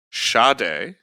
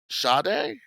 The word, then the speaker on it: Sade: Shade. Shade. Yep. Like shade. Yes. There's no H. It's spelled s a d e, but it's pronounced sha.